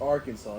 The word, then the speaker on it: Arkansas: No, yeah, I don't know why the fuck they named it like that, but it's pronounced Arkansas.